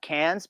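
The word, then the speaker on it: Cairns: in this little town called uh Cans, but it's spelled C A R I Ns.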